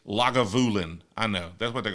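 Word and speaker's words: Lagavulin: The way you butchered Legavlin, it's not how you pronounce it. That's not how you say it. Somebody want to give me the phonetic spelling of Legalin because that's what it looks like. It It's logulin.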